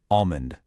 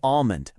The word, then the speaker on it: almond: The word is almond. Okay, this is the secret. Look closely. That L is completely silent. A lot of people say almond, but it's really almond.